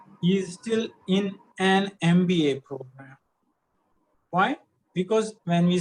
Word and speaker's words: MBA: here's another one okay an mba pronounce m b a and as you can see the letters m b a are pronounced as m m is starting with an a so what do we use and an mba i